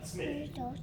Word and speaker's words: Psmith: Smith. The P is silent, as in pterodactyl.